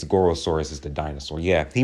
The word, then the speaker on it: Gorosaurus: How do you say Gorosaurus' name? Gorosaurus. It is Gorosaurus, okay? I thought it was Gorgosaurus.